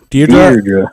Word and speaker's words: Deirdre: Deirdre.